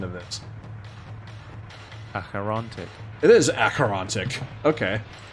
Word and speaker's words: Acherontic: What is the pronunciation of this? Acherontic. It is Acherontic.